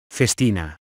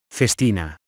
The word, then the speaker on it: Festina: watch conglomerate so how do you go about pronouncing it Festina face Tina Festina we are looking at how to pronounce the